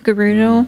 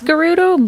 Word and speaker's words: Gerudo: that out of curiosity i say it with a soft g garudo like gravy i always for the